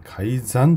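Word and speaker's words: 改ざん: はい、これはね、改ざんと読みますね。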